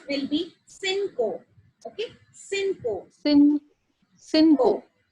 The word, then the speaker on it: cinco: So 5 will be cinco. Okay. Cinco. Cinco. Right. Okay. Because the pronunciation of CI is like C, and then the pronunciation of CO is co. That will be cinco.